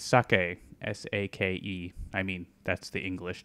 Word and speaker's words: sake: It's sake, S-A-K-E. I mean, that's the English translation. Sake, I think, is better pronounced.